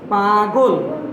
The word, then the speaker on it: পাগল: শব্দটি কিন্তু পাগল না, এটা প্রমিত উচ্চারণ হবে পাগল। পাগল, পাগল না।